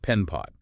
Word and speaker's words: PenPot: So yeah, today our deep dive is going to focus squarely on penpot. That's P N P O T. Uh pronounced Pen Pot.